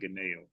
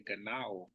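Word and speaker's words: γεννάω: He keeps saying Ganeo. That's just bad pronunciation of the Latin and Greek. If you just press the play button, it's going to say Ganao.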